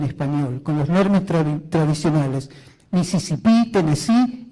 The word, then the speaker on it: Mississippi: Los demás, cuando es New Jersey, Nueva Jersey, Mississippi con acento en la I al final, Tennessee con acento en la I.